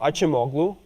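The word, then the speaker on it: Acemoğlu: So this is true that if we take the perspective of Robinson Acemoglu, or Acemoglu, as might be the more correct pronunciation, if we take their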